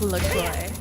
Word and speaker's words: LaCroix: Doza, it's pronounced LaCroix.